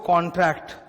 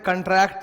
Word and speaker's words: contract: इसको कंसिडरेशन बोलते हैं और इसको कॉन्ट्रैक्ट। कई स्टूडेंट लोग बोलते वक्त उल्टा कर देते हैं, इसको बोलते हैं कंट्रैक्ट एक्ट और इसको बोलते हैं कॉन्सिडरेशन। तो गलत प्रोनाउंसिएशन है भाई, कॉन्ट्रैक्ट एक्ट एंड कंसिडरेशन।